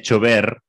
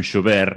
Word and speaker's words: chover: Como, por exemplo, chover é chover, não chover.